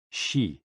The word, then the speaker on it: xi: HOO, pronounced like hu, which is associated with the spleen, and XI, pronounced like shi, which connects the whole body.